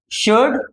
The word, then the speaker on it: should: शुड लिखा हुआ है। शुड शुड नहीं है। एल साइलेंट है बच्चों। तो ये जो एल है ना वो साइलेंट है।